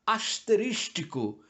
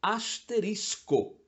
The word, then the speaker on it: asterisco: como corretas por exemplo já ouvi gente que procurando rebuscar a pronúncia fala asterístico aquela estrelinha que geralmente mas não só utilizamos para chamar a atenção sobre uma explicação no final da página não é asterístico é bem mais simples é asterisco nessa mesma família está